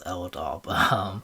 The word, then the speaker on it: Ldawb: They think it's like an uppercase I, but it's actually a lowercase L, so his name is Ldawb. I know he doesn't care about it, but I'm just like, if you're gonna say his name, say it correctly.